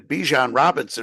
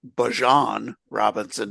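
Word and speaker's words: Bijan Robinson: and Gibbs and uh and Bjan Robinson are Bjon Robinson now. Uh he changed pronunciation. He likes he likes Bjon now.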